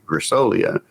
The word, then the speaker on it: Grasolia: have to tell people the easiest way to pronounce my name is just think of Magnolia and you can say grassolia but I hear granola